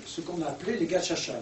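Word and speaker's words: gacaca: C'est qu'ils ont remis à l'ouvrage ce qu'on a appelé les gachacha. Les gachacha, ça s'écrit G-A-C-A-C-A.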